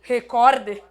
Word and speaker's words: recorde: em vocês como assim recorde recorde recorde é aqui a sílaba tônica Ou seja é uma palavra paroxítona essa questão da pronúncia